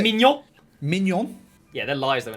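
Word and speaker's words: Maignan: Side note from that, did you see how they pronounce Mainan? How you actually pronounce it? Mignon.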